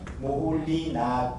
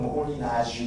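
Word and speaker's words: Moholy-Nagy: 맨 오른쪽에 보면 라슬로 모홀, 그러니까 이 모호이너지라고 그 국립국어원에서는 모호이너지라고 하는데 이 참 어렵습니다. 특히나 불어표기도 국립국어원은 좀 이상하게 하고 있는데 그 헝가리 발음, 그러니까 인터넷이 좀 잘 돼 있으니까 헝가리어 발음으로 모홀리너, 그러니까 모호이너지 정도, 그러니까 모홀리낙, 그러니까 보통 이제 모홀리낙이라고 그 전에는 얘기를 했습니다. 표기할 때. 근데 요즘은 영어식 표현은 모홀리나지 정도로 발음하고 있는 것 같고요. 국내에서는 모호이너지라고 합니다.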